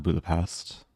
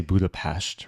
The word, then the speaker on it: Budapest: to Budapest I think the locals say Budapest right like s's are pronounced sh there's a Grandmaster who